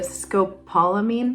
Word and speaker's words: scopolamine: put behind your ear and it's called a Scopolamine patch I hope I'm pronouncing that correctly but it's spelled s c